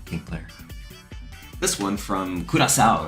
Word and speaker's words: Curaçao: This one from Curaçao, right? That's how you say it. Round one. Curaçao.